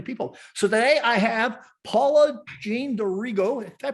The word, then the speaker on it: Paula-Jean D'Arrigo: So today I have Paula-Jean D'Arrigo. Did I pronounce that right?